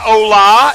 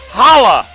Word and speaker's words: holla: that's how it's pronounced it's not hola it's holla like holla back I'm not okay I'm